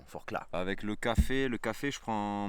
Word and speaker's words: Forclaz: J'ai appris à ne plus prononcer le Z, pardon, Forclaz.